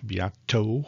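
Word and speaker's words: Beato: uh rick biatto and biato with the t i didn't mean to say that wrong it sounded like a d i said biato viato i just didn't say it correctly so anyways i've been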